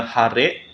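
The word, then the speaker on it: 晴れ: Kemudian cuaca masih ya minasang, yaitu langitnya cerah, dibacanya hare.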